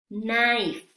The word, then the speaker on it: knife: Y si se fijan, cuando está al inicio de la palabra y está junto a la letra N, la K es muda, no se pronuncia.